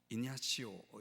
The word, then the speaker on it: 이그나시오: 로라의 성 아 이그나시오 이냐시오 이렇게 발음하기도 하는 이그나시오 이런 말을 했습니다 성도의